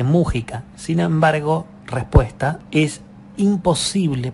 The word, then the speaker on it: Mujica: pronunciación del apellido Mujica a sabiendas que es un apellido Vasco y que en el